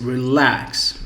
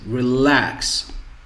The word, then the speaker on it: relax: If we see here, it's relax, relax, relax. Okay, relax is on the second syllable.